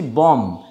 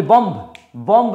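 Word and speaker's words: bomb: Next দেখো এমবি combination এও কিন্তু সাইলেন্ট থাকে। এমবি combination. কিরকম? যেমন আমরা বলছি বম। এইটা আমরা বলি বম। বম নয়।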